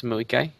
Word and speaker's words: Moikai: And how do you say your name properly? It's Moikai.